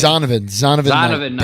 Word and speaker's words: Zonovan Knight: Zonovan Knight.